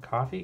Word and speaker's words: Ko-fi: I did set up a Ko-fi today. Coffee? Ko-fi? How do you pronounce it? I mean, it's supposed to be coffee, K-O-F-I, but yeah, I set that